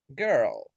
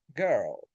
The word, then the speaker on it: girl: And the last one in the list is girl. Remember, when we're going to pronounce this kind of uh, sound, this kind of vowel, you have to keep in mind lips neutral, tongue central.